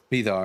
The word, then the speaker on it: Vidar: I think it's actually pronounced Vithar. Is it Vithar? Vidar. All right, Vidar.